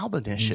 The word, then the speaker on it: Albanicious: Rhymes with bubblicious. That's what Bubblicious. Yeah. Albanicious. Easy way to remember it, man.